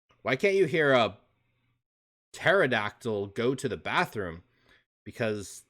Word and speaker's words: pterodactyl: can't you hear a pterodactyl go to the bathroom because the p is because the p is silent ah that's a good